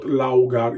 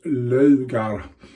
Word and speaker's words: Laugar: the logo of sweden not laoghar it's logar um as i told